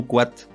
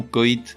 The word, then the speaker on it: coït: Ou encore, on ne dit pas « Martine rêve d'un long coit », mais « Martine rêve d'un long coït », C-O-I tréma T.